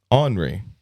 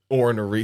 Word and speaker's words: ornery: Ornery. That's like the Southern way to say it. That's the right way, bro. Ornery.